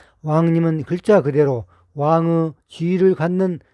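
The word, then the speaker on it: 王仁: 우리가 흔히 왕인 박사라고 하는 인물은 일본 측의 역사서에 기록되어 있는 것을 그대로 번역하여 놓은 것인데 왕인의 한자 표기는 우리의 옛 발음으로 왕님입니다. 왕님은 글자 그대로 왕의 지위를 갖는 높은 분이라는 뜻입니다.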